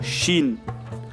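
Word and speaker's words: شين: English में अगर देखें तो इसे SH के ज़रिए हम प्रोनाउंस कर सकते हैं, श मतलब शीन।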